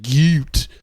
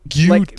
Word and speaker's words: GYAT: You pronounce it Gute. Gute, like sort of a German Gute. Like a cute? Is it? Oh. Gute. It's sort of like deeper.